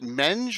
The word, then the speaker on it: Menge: Menge. Is it Menge or Meng? The correct mispronunciation is Menge.